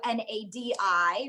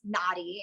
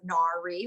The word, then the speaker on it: Nadi: correctly so n-a-d-i right so you can pronounce naughty instead of nari which is the same problem you have yeah yeah and so um i obviously i didn't like if i ever make it in the industry and um i don't want people to be calling me nari that's a mispronunciation of my name so i want to